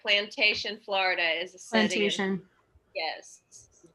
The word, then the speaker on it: Plantation: Plantation. Yes, you pronounced it correctly.